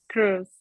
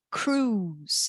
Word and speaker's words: Cruise: Quando a gente tem palavras com essas duas letrinhas juntas, a gente fala um U, cruise. Eu não pronuncio a letra I.